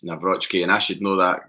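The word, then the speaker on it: Nawrocki: The two signs, by the way, I feel bad that I didn't pronounce Mike Navrochki's name properly, because he corrected anybody saying it wrong on, I think it was like an ask. Navrochki questions on the Celtic Twitter, and he said it's Navrotsky, and I should know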